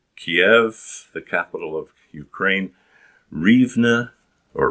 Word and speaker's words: Rivne: the capital of ukraine rivne or ravno as the russians pronounced it and odessa and so